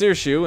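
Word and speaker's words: Saoirse: Her name is pronounced Sirshu and means freedom in Gaelic.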